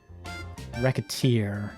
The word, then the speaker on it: Recettear: recite tears not thrilled let's pronounce it even slightly and wreck a tear racket that was going